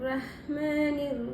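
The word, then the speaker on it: رحمن: பிஸ்மில்லாஹிர் இந்த இடத்துல ராத்தஹா இருக்கறதுனால ஹெவியா சொல்லணும் ரஹ்மான் இந்தஹ நடுத்தொண்டையில உச்சரிக்க முடியாது. இந்த ரெண்டு ஹமையும் டிபர் பண்ணிதான் ஓதணும். ரஹ்மானிர் ரஹீம் ர சொல்லாம ஹெவியா ரன்னு சொல்லணும்.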